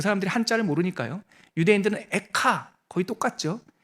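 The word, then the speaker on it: איכה: 사람들이 한자를 모르니까요 유대인들은 에카 거의 똑같죠 근데 발음은 거의 비슷한데 의미도 조금 비슷해요 이게 히브리어로 에카가 어찌하여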